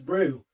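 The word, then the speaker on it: Rouwe: So if you wanted to look them up on Bandcamp, which you should do, it's spelt R-O-U-W-E, R-O-U-W-E, but it's pronounced Rue.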